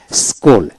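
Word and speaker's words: school: Saint এইভাবে যেমন এস সি H double L স্কুল অর্থাৎ এস এইচ ডব এল স্কুল সি উচ্চারণ হবে না এল ও কে লক সি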